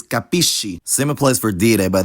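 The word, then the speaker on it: capisci: the present tenses but notice how that cluster changes pronunciation depending on the following vowel I understand is capisco but you understand is capish same applies for de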